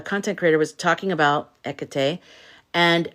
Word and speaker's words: Hecate: I've just realized I've been saying Hecate. It's Hecate. You don't pronounce the H, right? Hecate.